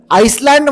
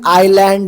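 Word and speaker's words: island: एन डी काय झालं आईलँड म्हणसाल तुमच्यापैकी खूप लोक कारण एस आहे ना पण नाही या ठिकाणी एस हा जो लेटर आहे हा सायलेंट आहे याला नाही सारखं ट्रीट करा लिहा लिहिताना लिहायचं स्पेलिंग जेव्हा जेव्हा लिहायची गरज पडल त्याठिकाणी एस लिहायचं पण बोलताना उच्चार करताना एस कुठेच लिहायचं नाही याला आपण सायलेंट वर्ड म्हणतो याच प्रोनन्सशन आयलँड झालं ठीक आहे ना आय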